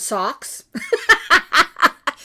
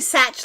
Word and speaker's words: Sach: When we lived in Germany, we got called socks. We get called Sach all the time. But it's actually Sach like patch.